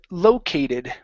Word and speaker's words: located: is um the word located right here the stress is at the beginning located located uhhuh one more time located